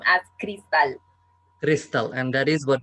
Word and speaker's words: Cristal: I pronounce my name as Cristal.